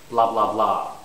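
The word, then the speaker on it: blah blah blah: So here it's blah, blah, blah. Okay, stress is on the last blah. You have to say it 3 times. So it's not blah, blah. Okay? You have to repeat the same syllable 3 times.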